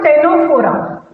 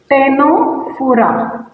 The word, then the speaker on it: Ctenophora: Now next phylum, phylum, always I will write P now for phylum, phylum Ctenophora, Ctenophora, C is silent here, Ctenophora।